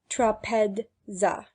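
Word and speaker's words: τράπεζα: Zeta is made up of ds and is to be pronounced accordingly. Thus trapeza is pronounced trapedza.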